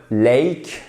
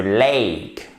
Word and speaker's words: lake: remarqué qu'on ne dit surtout pas le Lake non c'est le Lake ok Ciao in the lake on a hâte summer day ici vous avez la même diphton vous avez le même son qui est fort vous voyez ce que vous voyez ici là vous l'avez exactement ici aussi c'est Lake et ce n'est pas des d'accord ça ne s'écrit pas comme ça on phonétique c'est pas comme le et français d'accord ici c'est différent